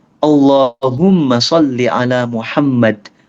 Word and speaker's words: Muhammad: Jadi gini, kita bacanya Allahumma sholli ala Muhammad. Asal M-nya double aja. Muhammad, Muhammad, Muhammad. Tapi nggak perlu jadi Muhammad. Itu nggak perlu. Nggak perlu. Ya, yang penting M-nya double. Jangan Muhammad, Muhammad salah. Tapi Muhammad.